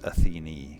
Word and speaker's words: Athene: Athene, it is actually pronounced Athene, because we had an NPC talking about it earlier.